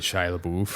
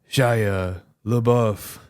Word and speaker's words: Shia LaBeouf: Get Shia LaBeouf. Yeah. Shia LaBeouf.